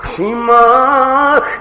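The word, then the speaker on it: شیماء: میں دسیا ہے کہ اصل اندر عربی دا نام شیما، شین یہ میم الف ما اگے حمزہ شیما دا نام ہے عربی زبان اندر تلفظ الرحیق المختوم والے جناب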